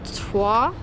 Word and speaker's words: Troyes: at a place called twah I think that's how you pronounce it it's spelled very different to how it sounds but we just it